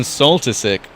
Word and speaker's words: Solstick: Oh my god, I kept on saying his name wrong then. It is Sebastian Solstick.